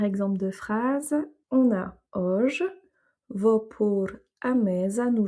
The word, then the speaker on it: hoje: mais en tout cas, la prononciation comme je l'entends est plus un O ouvert qu'un O fermé. Je sais juste aussi que c'est pas un OU, c'est pas ouge, c'est pas auge, c'est hoje.